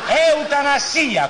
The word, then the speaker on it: eutanasia: Si dice eutanasia, con la S normale.